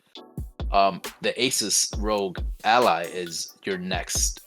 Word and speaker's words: Asus: guys let us know in the comments below are you getting though Asus Rog Ally see I said it right at